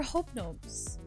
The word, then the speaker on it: Hobnobs: They're hobnobs. Right, it's spelled H-O-B-N-O-B.